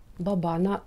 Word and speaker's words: баба: Образ баби, саме склад баба, на другому складі наголос ставимо.